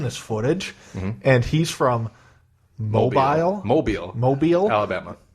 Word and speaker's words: Mobile: And I always thought it was mobile. So I've been pronouncing it mobile, and then I was watching, I was like, hey, that's how you pronounce it, because Dave said, like, mobile or mobile. Hey everyone, Wedge Antilles with the Rebel Underground correspondent in Mobile, Alabama. It's Mobile. Mobile. And I was like mind